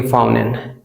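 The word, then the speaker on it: fountain: सो जो आपको इंप्रेसिव लगे वो रूल ये कि एन के बाद अगर टी आ रहा है तो हम उसमें टी को साइलेंट करेंगे। फाउंटेन, हम बोलेंगे फाउंटेन।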